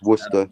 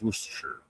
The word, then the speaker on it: Worcestershire: Yeah, it's Worcester, but whatever. Worcestershire, yeah. We spell it Worcestershire, but we pronounce it Worcester. We don't here in the States. It's Worcestershire.